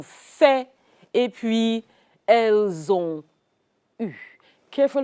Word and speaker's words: eu: et puis elles ont eu. Careful how you pronounce this. EU, you've got to get the French U. Pucker up your lips, point them towards the north.